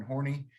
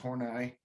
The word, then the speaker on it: Horney: her name is karen horny it's actually pronounced horney as german and she described this